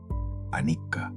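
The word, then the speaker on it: anicca: Anik se pronuncia suave, casi como un susurro, y significa impermanencia.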